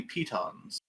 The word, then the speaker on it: piton: i just know that piton is actually how you pronounce the thing that you stick into a mountain to climb with it's not nah that it's python anyways p-tub uh are there